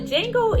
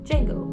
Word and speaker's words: Django: Django. Can you spell it? The D is silent?